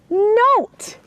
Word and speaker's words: note: Now, if we put the magic E on the end, the O, the short O, becomes a long O because of the magic E. So not becomes note.